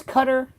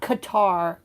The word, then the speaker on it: Qatar: BB Netanyahu who it's it's cutter, not Qatar. Cutter or gutter sometimes pronounced G.